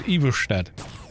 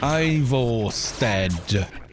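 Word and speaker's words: Ivarstead: "Oh yeah," you know, because he was pronouncing all the towns' names in Skyrim in a kind of Nordic fashion. I was going, "Why are you saying it like that?" Because he goes Iverstead instead of Ivorstead.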